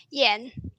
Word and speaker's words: Jan: Is it Yan, Yan? Which do you prefer? Yen, like Yeah, the Japanese money yen.